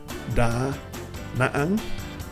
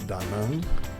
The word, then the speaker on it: Da Nang: Uh, it is spelled da naang, but nobody pronounces it that way. Here, the locals call it daang.